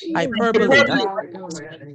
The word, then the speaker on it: hyperbole: What's the pronunciation of it? Hyperbole.